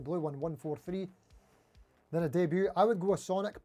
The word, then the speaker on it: Debut: The good thing about the Sunburst one is because all of the Squier D-Butts, I know it's pronounced debut, I'm just having a bit of fun.